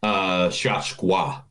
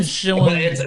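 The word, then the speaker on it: Schwochow: It's Christian Shachwa. Oh, it's not Christian Shawashow. But it's harder, though. It's harder because this is a German word, so it's Shachwa. Like, it's like that.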